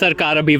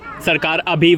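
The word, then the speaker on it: Sarkar Abhi: abash abash and what's your YouTube channel that's sarar ABI Vlogs hey can you spell that please sarar s a r k a r a b h i sarar ABI Vlogs oh wow excellent because some people are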